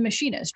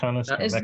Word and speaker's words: Mechanist: How do you say it? Mechanist. But we are not 100% sure for the final book because we removed the H from machine to make it a bit different.